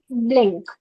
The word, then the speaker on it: blink: जब भी आपको बी साउंड प्रोनाउंस करना है तो लिप्स कनेक्ट होंगे, ब्लिंक। Blink.